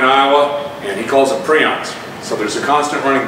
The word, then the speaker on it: prions: And then the prion diseases, in Europe they call them prions. The guy who coined the term grew up here in Des Moines, Iowa, and he calls them prions.